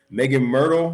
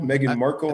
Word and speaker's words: Meghan Markle: this whole megan i i do not know how to say this ladies name megan myrtle megan merkel i think it's megan markle meghan markle the girl that's married to